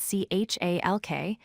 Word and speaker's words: chalk: The word chalk is spelled C-H-A-L-K, but we pronounce it as chalk. No L sound.